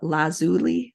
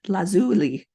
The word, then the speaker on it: lazuli: to look this up how to say it lazuli lazuli and Jasper clear quartz and aqua aquamarine to